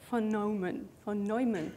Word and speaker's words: von Neumann: So CPU 1 is like a linear von Neumann, that's how you say it, process, meaning it takes things step by step.